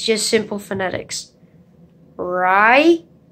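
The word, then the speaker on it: Raihan: It's Ryan, not Rayhan. Ryan. R-A-I-H-A-N. It's just simple phonetics. Ryan.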